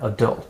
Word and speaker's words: adult: say it like that adult so the stress is on the second syllable how do you say